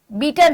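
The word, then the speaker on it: Beighton: अगला आपका है हॉकी में आगा Khan cup बेगटन coffee sorry बीटन कप बीटन है। बेगटन नहीं बीटन है। घट साइलेंट है इसमें जीए साइलेंट है।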